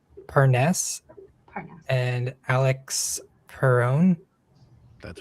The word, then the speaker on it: Parness: How do you pronounce that? Parness. Parness and Alex Perone.